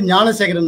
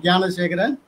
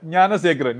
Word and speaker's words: Gnanasekharan: My name is Gnanasekharan, not Gnanasekharan. Okay. You are pronouncing like North Indians. You said Gnanasekharan. You can pronounce well. You are a Kerala man. You can pronounce Gnanasekharan. Okay, Gnanasekharan. Yeah, Gnanasekharan.